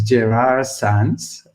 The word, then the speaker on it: Gerard Sans: this is my name is quite difficult to pronounce so this is gerard sans and i'm a developer evangelist for web and